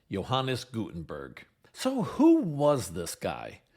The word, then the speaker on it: Johannes Gutenberg: Although I've heard it pronounced a few different ways, I usually hear his name pronounced Johannes Gutenberg.